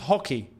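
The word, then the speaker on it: Roque: Even the commentators just said it's pronounced hockey.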